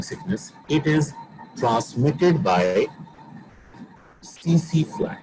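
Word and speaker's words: tsetse: इट is transmitted by सीसी फ्लाई, इसमें T silent है दो, ठीक है, सीसी फ्लाई, और इट is caused by Trypanosoma brucei rodents and Trypanosoma brucei gambians.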